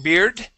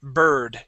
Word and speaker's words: bird: up the word bird instead of saying beard it is an earth sound bird try that please um